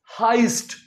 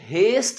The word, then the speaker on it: heist: आगे चलते हैं, अगली हेडलाइन है बैंक हाइस्ट इन सिटी। करें इसे नोट, HEIST यहां पढ़ लेते हैं। इसका प्रोनाउंसिएशन हेस्ट नहीं होता, देखने में ये हेस्ट लगता है, इसका एक्चुअल में प्रोनाउंसिएशन होता है हाइस्ट, बैंक हाइस्ट इन सिटी।